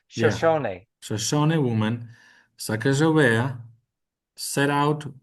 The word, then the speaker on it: Shoshone: Shoshone, Sh- sh- make okay, give that ne sound at the end of the word some voice. yeah, Shoshone.